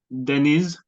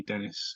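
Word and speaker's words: Deniz: the UK and um my name is spelled D n i z it's pronounced Denis i z Denis but um because I'm from the UK and it makes it easy for everybody I just say call me Dennis because it's the Turkish version of Dennis you know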